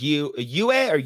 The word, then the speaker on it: Yue: So another one is Princess Yue. I forgot how you pronounce her name. I think it's Yu. Yeah, Princess Yue.